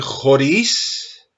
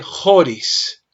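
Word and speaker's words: χωρίς: cuestión del acento acá en vez de decir joris dijiste joris Ajá joris Porque mira que el acento lo encontramos en la segunda sílaba es decir donde está el acento se hace la fuerza Okay lo mismo en esta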